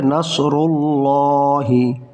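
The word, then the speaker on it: نَصْرُ اللَّهِ: যেটা আল্লাহ শব্দ, আল্লাহ, এই আল্লাহ শব্দের তাসদীদের আগে, এই তাসদীদের আগে জবর বা পেশ থাকলে ওই আল্লাহ শব্দের লাম মোটা করে পড়তে হয়, আর যদি জের থাকে তাহলে পাতলা করে পড়তে হয়।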